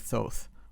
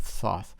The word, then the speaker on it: Thoth: and the Book of Thoth, or the Book of Thoth. Depends on how you want to pronounce it.